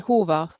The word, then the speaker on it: Horvath: I mean, Horvath. Horvath, is that how you say it? Uh, it's Horvath, Horvat. so Okay, close get enough.